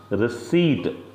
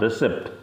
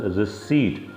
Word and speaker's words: receipt: This is pronounced receipt, not receipt. P is silent in this word.